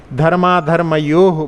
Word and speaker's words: धर्माधर्मयोः: हाँ, विसर्ग का उच्चारण अभी लोग आप सीखे नहीं हैं। धर्माधर्मयोः, वहाँ पर जो है थोड़ी देर अपना पॉज होना चाहिए, कॉमा जैसा कार्य करता है।